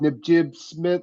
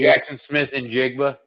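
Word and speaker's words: Jaxon Smith-Njigba: You're going to give somebody with Najib Smith, right? Did I say his name right? Najib Smith? Jackson Smith and Jigba.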